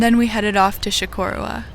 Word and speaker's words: Chocorua: And then we headed off to Chocorua, which is how you pronounce it from what I've learned.